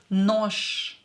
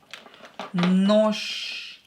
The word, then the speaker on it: нож: Ж will become unvoiced ша. Нож. Нож.